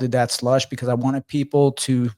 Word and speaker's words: Dat Slush: It's spelled DAT with dat. Mm-hmm. And I had an exclamation point, true story, with the logo, but people kept saying Dati. It was like daddy.